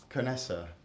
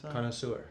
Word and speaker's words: connoisseur: and so Phil McKnight TriCaster you rent it kanessa can I say that Canessa Canosa how did you say it like that's a that's a French word so I thought kanessa good Moss connoisseur connoisseur you see yeah finally I'm not screwing